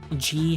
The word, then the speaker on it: ghee: Just make sure to add G first. Okay, how the hell do you pronounce this word? It is pronounced just G.